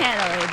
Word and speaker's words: Ohanele: all facets and walks of life, Miss Chigi Ohanele. Did I pronounce that right? I messed that up. Yes, you I hit it? did. How about that? Ohanele.